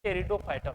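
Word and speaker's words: Pteridophyta: एक आता है इसमें टेरिडोफाइटा देखो टेरिडोफाइटा नहीं प्राप्त होता है साइलेंट राहत है अब इधर ध्यान से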